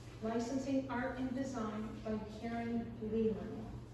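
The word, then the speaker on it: Caryn Leland: Licensing Art and Design by Karen Leland. Karen is spelled C-A-R-Y-N, Leland, L-E-L-A-N-D.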